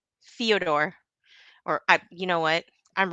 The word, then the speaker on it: Fedor: Daniel says it's pronounced Fedor on the Joe Rogan podcast. Fyodor, or you know what?